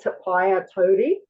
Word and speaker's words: Te Paea Tauri: But my name is actually Te Paea Tauri, and that's how it's pronounced properly.